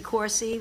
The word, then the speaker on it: Corsi: just change it as corsi with a hard C Sound and I also asked